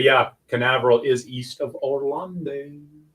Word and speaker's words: Canaveral: Port is it Port Carnival or Port Canaveral? Yeah, it's Port Canaveral. I said it wrong.